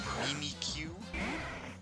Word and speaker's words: Mimikyu: is because it, like, Mimikyu is so clearly how it's supposed to be, but the anime is always Mimikyu, like me cute or something.